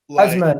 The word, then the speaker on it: Azmoun: Sardar Azmoun. Sardar Azmoun. Never heard of him. Never heard of him. Yeah. Is that Azmoun or what? Azmoun, yeah. Azmoun. Let me tell you guys who Azmoun is.